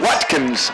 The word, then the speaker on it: Watkins: Eric Watkins. Not Watson. Yeah, Watkins.